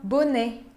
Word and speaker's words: bonnet: Temos também a palavra bonnet. Bonnet, uma touca. Un bonnet pour le froid. Não se pronuncia o T. Não é bonnet, é bonnet.